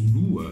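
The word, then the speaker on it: BVLGARI BLV: Alors vous pouvez lire BLV, mais ça se prononce Blue.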